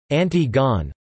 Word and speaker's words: Antigone: In English, it is often distinguished from its antecedent by being pronounced in its original French form, approximately, Antigone.